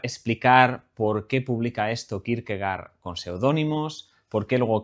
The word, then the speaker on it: Kierkegaard: Yo pronunciaré Kirkegar, lo españolizaré, no diré Kirkegor, de hecho no sé ni cómo se pronuncia en danés, pero bueno, eso que